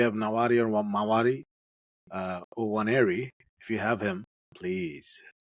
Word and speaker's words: Nwaneri: His name is Waneri. Correct. You got it right. Nwaneri. না, না, 180 এন্ডটা silent থাকে। Okay, Waneri with silent.